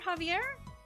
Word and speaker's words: Xavier: but I know that some people spell it with an X but they pronounce it with like a soft J don't [ __